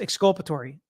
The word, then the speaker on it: exculpatory: Angie, how do you pronounce exculpatory? Exculpatory.